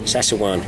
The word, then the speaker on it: Szechuan: I'm going to get Szechuan. Is that how you say it? Szechuan. Szechuan, yeah.